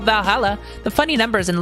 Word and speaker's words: VA-11 HALL-A: oh hey ba holla her name sounds facili and a bit hard to pronounce good thing it's actually called Valhalla the funny numbers and